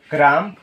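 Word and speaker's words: crumb: করা ক্লাইম আরোহণ করা ক্রাম রুটির টুকরো অর্থাৎ এই কষেত্রে বিগুলো আমাদের উচ্চারণ হবে না। কারণ হচ্ছে এম এর পর কি? বি থাকলে সে বি উচ্চারিত হয় না।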